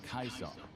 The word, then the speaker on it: Caesar: In the original Latin, the name would have been pronounced Kaisar.